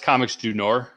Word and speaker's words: Comics Du Nord: It's Comics Du Nord.